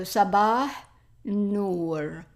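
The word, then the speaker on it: صباح النور: Here we have the a and l are not pronounced and we pronounce nor. So sabah nor sabah nor.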